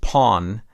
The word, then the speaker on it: pan: musical identity it is the steel drum or pan often pronounced pawn that has become the